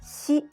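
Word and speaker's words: し: Did you notice that shi is different from the English pronunciation of s in signal? In Japanese, shi is romanized as shi, so it's not s, but shi. Shi. Also be careful because it's a little different from the English pronunciation of sh in sheep.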